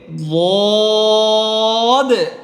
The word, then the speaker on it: ض: এখন এই যে হরফটা দেখতেছেন, এই হরফটা উচ্চারণটা কেমন হবে, বদ, 7 নম্বর মাখরাজ, জিহ্বার গোড়ার কিনারা উপরের মারির দাঁতের গোড়ার সাথে লাগবে, বদ, মোটা, বদ, বদ, বদের উপর এক নক্তা।